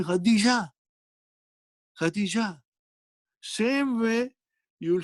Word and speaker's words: Khadija: Because you stopped, you don't pronounce the last letter in the name. Khadija too. Can you say Khadija too to a sister? No, you'll say Khadija.